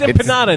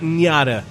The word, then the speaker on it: empanada: I feel like I should at least buy him some empanadas. Yeah. There's no Tilde. It's empanada, not nyada. There is no Enya in there.